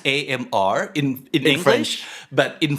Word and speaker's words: ÁMR: it's AMR in English, French. but in French, yes, that's it's right. pronounced as IMR.